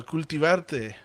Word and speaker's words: Cultivarte: it's cultivarted.laredo that's uh it's spelled exactly the way it sounds uh it's uh like cultivate but with uh rt at the end um uh that is